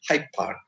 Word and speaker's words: Hyde Park: this case for instance in a world like hyde park hyde hyde park park in a one lake high park it we pronounce it as high part so they are there that that sound gets assimilated and it becomes hype part last uh slide of